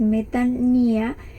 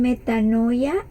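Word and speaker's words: μετάνοια: En el paréntesis aparece la pronunciación de esa palabra, que es metanía. Algunos lo pronuncian metanoia, yo lo investigué y dice metania, pero pues más o menos se entiende que esa es como la pronunciación.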